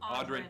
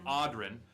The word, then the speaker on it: Audrin: Odrin. Did I pronounce it correct? Audrin. Audrin. Like something's odd.